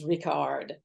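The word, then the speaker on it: Richárd: Yad vashem and it had the little accent over the A and the pronunciation in Hungarian is Rickard and it was the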